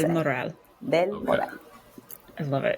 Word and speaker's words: Del Moral: Del Moral.